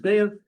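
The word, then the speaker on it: ביצה: The Beya, the Beitza, many pronounce it Beya, but anyways, that's the egg.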